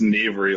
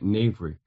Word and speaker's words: knavery: It's pronounced knavery like an N. K-N like N. Okay, knavery.